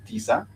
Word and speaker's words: tisa: If you're talking about nine, nine, we do say tisa, two syllable word again, tisa, TISA.